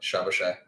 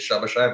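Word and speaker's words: Szoboszlai: I actually think the Hungarian pronunciation is Shabashai, but don't quote me on it.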